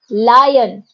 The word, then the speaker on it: lion: इन दोनों की भी साउंड काफी हद तक सिमिलर है, but there is a slight difference. When we talk about LION, इट इज लायन, जो हम बच्चों को